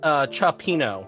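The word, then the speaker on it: cioppino: Oh, it's pronounced chopino.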